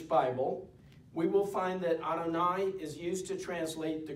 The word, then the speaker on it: Adonai: If we are pronouncing the Hebrew, we will say the name as Adonai, a Hebrew term meaning my great master.